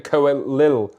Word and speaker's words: Coelho: It's Brendan Coelho. Actually Cole, but I'll pronounce it how I damn well want, Brendan.